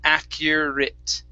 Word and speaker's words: accurate: the word accurate now the ate in this word is actually pronounced with a short i and a t so instead of accurate it's accurate accurate accurate good all right